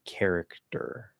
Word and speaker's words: character: Instead of trying to say character, in really enunciated, like over enunciated speech, you could do that, but we'll probably make it a weak D.